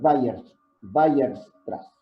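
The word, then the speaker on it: Weierstrass: es un matemático alemán que se llama se pronuncian byers vayas atrás bueno habrá también en cuestiones muy básicas geométricamente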